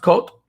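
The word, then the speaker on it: Côt: put it that way it's pronounced cult and it is uh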